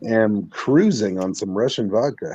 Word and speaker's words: vodka: It's pronounced vodka. Vodka. I texted him that earlier and he about busted gut. I told him that's how it's pronounced. It's vodka. It's not vodka. It's vodka. There's a more W sound, so if you spell it with a W, you say it right.